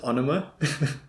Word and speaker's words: Ænema: in the last video we found out it's pronounced anima okay well I'm going with anima for now so I picked the song given